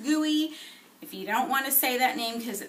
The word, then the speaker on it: GUI: of a funny name it's pronounced gooey if you don't want